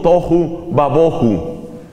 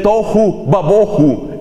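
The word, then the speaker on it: תֹהוּ וָבֹהוּ: La expresión hebrea se pronuncia algo así como tohu babohu.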